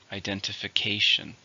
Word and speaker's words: identification: or passport countable noun how many syllables identification six stresses on the fifth syllable identification if you want to